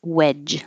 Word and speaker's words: wedge: street swerve Sledge and wedge do these at the same time because they have the same jock at the ending spelled with a DG sounds like a j Sledgehammer a wedge of